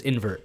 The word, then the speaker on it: Nvrted: I was going to ask you, so the proper way to pronounce it is invert. Yes. Nice. Yeah, it's like invert, we took out the I and E.